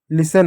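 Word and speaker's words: listen: से स हो गया टी साइलेंट हो गया ई से ए की मात्रा हो गया। एन से न हो गया। लिसन हो गया।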